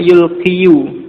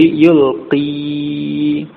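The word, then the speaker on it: يُلْقِي: Asalnya yulqiyu, yulqiyu. Tetapi dhammah pada huruf ya itu ditakdirkan karena sulit diucapkan menurut lidah Arab, sehingga menjadi yulqi. Ya, dibaca panjang ya. Dengan dalam bacaan dengan sukun yulqi. Ini alqa yulqi.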